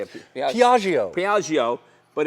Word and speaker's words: Piaggio: Piaggio.